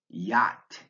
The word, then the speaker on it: yacht: This word has a silent C and a silent H, yacht.